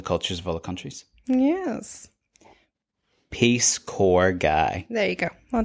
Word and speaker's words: Peace Corps: in love with this peace corpse guy and I was like peace corpse that sounds interesting it it's not pronounced corpse it's core the peace core peace core guy volunteer